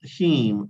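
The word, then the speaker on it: hymn: word for the word you just pronounce him or yes I said him h y m n so him is a kind of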